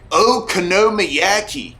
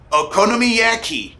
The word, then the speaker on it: okonomiyaki: hmm like a pancake you say oh konomiyaki oh konomiyaki oh konomiyaki oh you mean okonomiyaki yeah sure yeah that's what i said okonomiyaki your japanese words sure